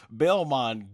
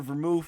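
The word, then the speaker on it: Belmod: what's your thoughts on Belmont giving up? Belmont or Vermouth, it's pronounced either way, I guess, but what's your thoughts on him actually just giving up the will with Jiren?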